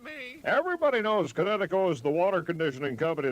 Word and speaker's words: Kinetico: you should have remembered kinetic as in kinetic energy with an o on the end, Kinetico.